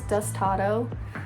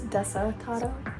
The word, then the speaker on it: Desatado: I'll be honest, I thought it was Destado for the longest time, but it's Desatado.